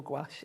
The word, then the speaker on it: gouache: And you can pronounce it gash or gouache.